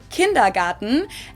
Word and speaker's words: Kindergarten: In German, we pronounce it kindergarten, and it literally means children's garden.